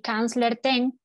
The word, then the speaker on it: Kanzler Tehn: Yo soy Kanzler Ten, así lo pronunciamos aquí.